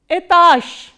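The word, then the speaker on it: этаж: must be knowing that when a voiced consonant comes in the end, it is pronounced as its voiceless counterpart. So, what is the voiceless counterpart of j? It is sh.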